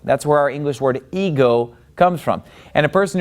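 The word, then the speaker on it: ἐγώ: Now, the word ego, it gets the accent on the second syllable. See, that accent is over the omega.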